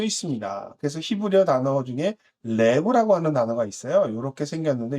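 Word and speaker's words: לב: 구부러져 있는 지팡이를 의미하고 영어의 L, 그다음에 리을 발음을 낼 수 있습니다. 그래서 히브리어 단어 중에 레브라고 하는 단어가 있어요.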